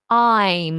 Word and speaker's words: I'm: am becomes I'm I'm notice that Movement we don't want it to sound like am simply am which is what I hear a lot we want I I'm I'm sorry and the the